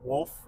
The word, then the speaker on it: wolf: It's like wolf and woof. Wolf. The amount of women that pronounce wolf isn't. I don't get it. They say it like a dog barks.